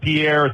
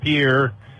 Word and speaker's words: Pierre: It's not Pierre, South Dakota, it's Pierre.